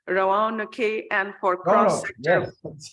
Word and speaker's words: Roanoke: don't know how to say this word, it's Roanoke, and for cross-sector.